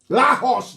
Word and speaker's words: Lagos: Lahos, that's the correct pronunciation.